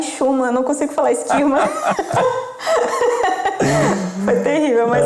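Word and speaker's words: Schuurman: A pronúncia? Skirman. Skirman. É por aí.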